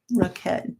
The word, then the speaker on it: roquette: Roquette, just say it like a bucket instead of bouquet.